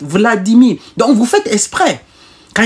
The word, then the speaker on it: Vladimir: Vous ne dites pas V, Vladimir Poutine. Non, vous dites Vladimir.